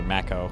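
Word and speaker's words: Mako: It's called Makeo. Although in they pronounce it maco, but You make me horny.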